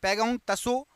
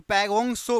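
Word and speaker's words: Pangong Tso: Option number यहाँ पर डी पैगोंग तसो, या तसो में ता साइलेंट रहता है तो पैगोंग सो बोलते हैं इसको, पैगोंग सो।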